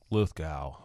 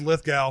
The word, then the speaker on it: Lithgow: longest time i saw i said lithgow for the longest time until i actually heard him oh heard him say it yeah where he's like hi i'm john lithgow and i was like